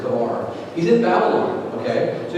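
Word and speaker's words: Chebar: He's called at the river Kabar, or Chabar. I think mostly the best way to pronounce it is Kabar.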